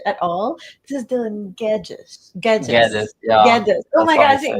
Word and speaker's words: Guedes: Yeah, and just because we already asked him for his last name, then did not pronounce it at all. This is Dylan Guedes.